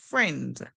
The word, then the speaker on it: friend: here is silent so in this word we do not hear the I the ey is silent so let's call the word now F end F end friend friend friend did you